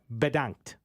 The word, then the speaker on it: Bedankt: Bedankt. Dutch. I can spell it.